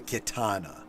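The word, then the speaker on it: Khetanna: And but I'll tell you that the actual name of Jabba's sail barge is the Kitana, and not spelled the same as the sword, but pronounced basically the same.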